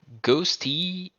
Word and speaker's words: Ghosty: Well, wait, how do I pronounce that? Ghosty you Inc? Just Ghosty.